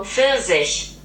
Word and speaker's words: Pfirsich: Okay, so this next one means peach in English, and this is how it's pronounced in German, according to Google. Pfirsich.